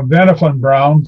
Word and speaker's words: Wernher von Braun: really just who is wernher von braun and what is it significant to space operation well uh benefit brown so to use the german pronunciation um was a german